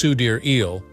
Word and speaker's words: Sidereal: Sidereal, the last portion of her name, which is pronounced Sudir-eel, offers two interpretations.